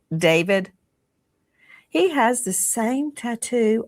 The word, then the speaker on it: d4vd: Some people look at his name and it looks it looks like D4 V D and he pronounces it David.